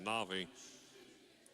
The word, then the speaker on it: Navi: They're saying Navy down there for her first name. We said Navi, as Johnson at the line for 2. Makes sense. It's spelled that way. Well, it's not a Y.